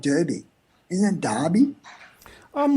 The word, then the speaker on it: Derby: over here so they look at it phonetically and think it must be Derby rather than Derby which is the way that would been pronounced in in England well that's what I